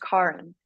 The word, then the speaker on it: Kar: But my name is spelled like the traditional Karen, and my whole kind of like life growing up, and it's pronounced Karen.